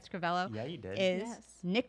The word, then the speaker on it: Scrivello: And it is, did I say it right, Scrivello?